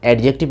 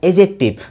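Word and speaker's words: adjective: ये कभी नहीं होता है दोस्त, एडजेक्टिव नहीं होता है, एजेक्टिव.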